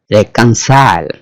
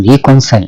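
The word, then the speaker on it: reconcile: রেকনসাইল। এখানে বানানটা খেয়াল করবেন, রিকনসাইল না, এর উচ্চারণ হচ্ছে রেকনসাইল।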